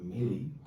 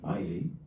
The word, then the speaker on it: Milley: A Trump, y lo ha llegado a reconocer el general Milley, no recuerdo cómo se pronuncia bien, como al inglés, Miley, reconoció que a Trump